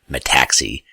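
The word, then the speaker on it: metaxy: of the Greek philosophers Plato called it the Mattacks II and that's where you want to understand and remember my taxi and I'm pausing I'm pronouncing it correctly M ETA X Y it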